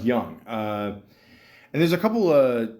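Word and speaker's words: Gung: And, obviously it's based on a true story, about, the guy here, George Hung, or George Young, G-U-N-G, Young, or Guy, I think it's pronounced Young.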